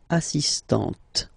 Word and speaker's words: assistant: feminine form okay okay you don't really insist on the but you insist quite much on the T assist so don't pronounce the final here but for the feminine form assistant okay assist assistant all